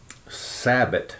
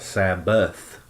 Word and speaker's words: Sabbat: to do with the upcoming Sabbat now this is not Sabbath it spelled the same sa BB eighty but they leave the H off sad that it's not Sabbath with the H of the Sabbath festival of Kendall mus